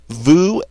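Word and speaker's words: veux: person's plural with new Vu and eel all right let's get started I want is j v v ux and it's pronounced V the x is silent J I want the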